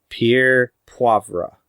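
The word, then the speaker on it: Pierre Poivre: it's possibly written about 18th century French horticulturist Pierre puebra which I know I said that right because I wrote down the pronunciation for it so you know the Peter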